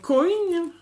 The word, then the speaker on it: coin: Je me suis dit que pour faire des ATC coins, alors coin, parce que une collègue scrapeuse qui est prof d'anglais m'a dit, mais tu prononces comme en anglais, coin.